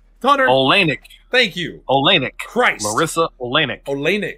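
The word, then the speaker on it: Oleynik: olanik Christ Marissa and the emphasis is on the same syllable in both her first and last name I keep want to say Larissa olneyik you know what I mean like the wrong emphasis on the wrong syllable well it's just an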